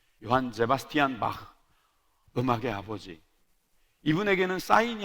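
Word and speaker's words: Sebastian: 저는 예전에 세바스찬이라고 배웠는데 요즘 사전에 보니까 제바스티안이라고 읽는 게 맞는가 보더라고요. 요한 세바스티안 바흐, 음악의 아버지.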